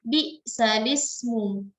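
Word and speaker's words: بئس الاسم: Jadi bacanya bukan lagi bi'sal ismu, tapi kita baca bi'sal ismu. Bi'sal ismul fusuqu ba'dal iman. Bi'sal ismu. Bi'sal ismu. Jadi bukan bi'sal ismu, tapi harokat kasroh yang ada pada hamzah kita pindahkan kepada huruf sebelumnya.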